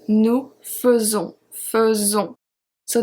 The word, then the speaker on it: faisons: In the present tense, it's conjugated like nous faisons, faisons. So the AI before the S is pronounced as a E, faisons.